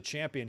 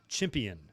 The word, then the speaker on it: champion: And whenever he announces a champion, he pronounces champion chimpion, and I never liked it. He's not a chimp, he's a champ.